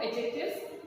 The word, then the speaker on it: adjectives: You don't have to say D here. D is silent.